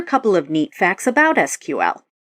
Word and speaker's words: SQL: we've covered so far first off it's formally pronounced SQL although some people say SQL while the acronym stands for structured query language